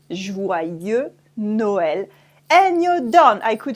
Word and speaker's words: Joyeux Noël: It's Joyeux Noël. Joyeux Noël. As you can see here, we don't pronounce the X at the end of joyeux. Joyeux Noël.